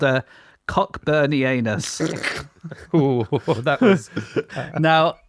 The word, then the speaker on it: Cockburnianus: It's called a Cockburnianus. Ooh, that was... Now, I would pronounce that Coburnianus. Yep. Because it's named after the Coburn family, but Coburn is spelled Cockburn.